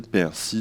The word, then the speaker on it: persil: avez à l'écran donc les trois premiers mots en français on peut prononcer ou pas le l donc c'est les mots persil sourcil et nombril ou qui peuvent se prononcer en français persil sourcil nombr donc je vais commencer avec